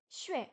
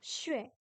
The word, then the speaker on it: 学: Xue, pardon, xue. Xue, xue, deuxième ton, on monte, c'est le plus difficile. Xue, le X se prononce comme un S français, mais avec le dos de la langue.